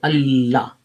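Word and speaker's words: الله: you would drop the love but we say allah you pronounce the two so that means that it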